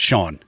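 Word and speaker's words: Sian: I looked it up it's Shawn you pronounce Sha Sha yeah s i a an y Shawn okay like like we like it's the female version of s e a right I got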